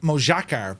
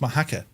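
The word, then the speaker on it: Mojácar: here near moaka and it looks like mojacar but it's pronounced moaka uh I think it's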